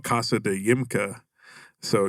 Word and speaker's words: YMCA: it's called casa de yimka so if you like phonetically sound say ymca you know um it was actually